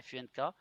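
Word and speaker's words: phonk: F-U-N-K. Mais moi, je préfère dire, OK, t'as le funk, puis le P-H-O-N-K se prononcerait plus funk. Funk. Funk. Funk. Parce que t'as toujours le K.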